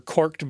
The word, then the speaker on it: caulk: Now, they were using especially what they called caulked or corked boots, a caulk, C-A-U-L-K, but commonly pronounced cork, were basically metal cleats, spikes installed into the shoes.